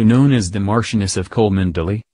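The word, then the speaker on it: Cholmondeley: as the martianus of col Melly pronounced Chumley while Kate Middleton was pregnant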